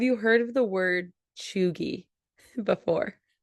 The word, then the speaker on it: cheugy: or like you're you're trying too hard so Choi Choi yeah spell it's spelled c h e u g y